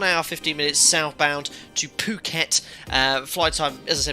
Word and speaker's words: Phuket: Yeah, I thought it was pronounced Phuket but someone told me Phuket.